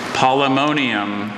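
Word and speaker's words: Polemonium: Polymonium. Polymonium. Are there any alternate pronunciations? I have just the one, polymonium.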